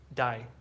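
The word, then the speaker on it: दाइ: Dai. Buyer? Yeah. No, it's, how would you spell it? I think like B-A-I or, yeah, Jessica, that's right. Or D-A-I. So yeah, it sounds like die, like D-I-E, but it's, yeah.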